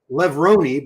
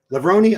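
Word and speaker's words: Levrone: Levroni, but don't know how to pronounce his name. Well, I mean, Levroni. I used to say Levron. But he corrected me so many times, it stuck in my head.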